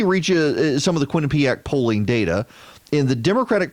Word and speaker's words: Quinnipiac: Democrat are supporting him I love that they do the pronunciation guide kwi and Quinn you H uh peña P ack-ack Quinnipiac the Quinnipiac University national